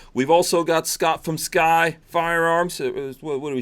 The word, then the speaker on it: SCCY: nobody knows how to say it cuz it's spelled SCC Y but man that's it it's just sky firearms yeah yeah we will